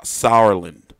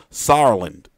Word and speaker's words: Sauerland: names for years saw Sauerland see if I just pronounce it like sour like you know like sour you know then I